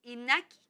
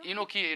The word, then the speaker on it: Inoki: y de la y inaki o Cómo se dice inaki inoki inoki es la Grande empresa de